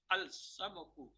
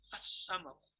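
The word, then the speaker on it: السمك: Al-samaku, the fish. As-samaku, not al-samaku.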